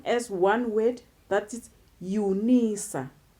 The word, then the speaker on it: Unisa: to the width University of South Africa we pronounce them as one weight that it Unisa Unisa and then we have truncation then truncation we